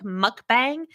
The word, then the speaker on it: mukbang: First of all, and I'm pulling up the thing, it is pronounced, even though it looks like mukbang, it's pronounced mukbang.